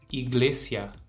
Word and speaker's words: iglesia: que é a palavra Iglesia a gente tem mais de uma aparição da letra i e nos dois casos ela tem o mesmo som e o mesmo som também que nós usamos no português então escuta com atenção